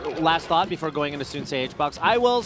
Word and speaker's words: Soonsay: You know, Soonsay rhymes with Tuesday. Hbox. Jesus Christ. It's Soonsay, isn't it?